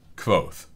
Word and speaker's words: Kvothe: How do I pronounce Kvothe? It's like Kvothe.